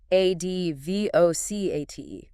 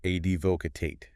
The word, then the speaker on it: advocate: Advocate. A-D-V-O-C-A-T-E. Advocate. 3 syllables. Stress on the first this time.